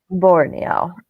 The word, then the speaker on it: Borneo: in architectures in do you know how to pronounce this Peter Borneo Borneo good perfect all right um I think one